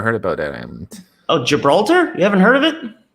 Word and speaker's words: Gibraltar: something similar here that's kind of my ideal gibberella tar never heard about that island oh gibraltar you haven't heard of it too beautiful oh